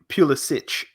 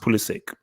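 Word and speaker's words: Pulisic: nor I like it's it's pronounced Polly sick it's his name so if he says that's how you pronounce okay it's cool but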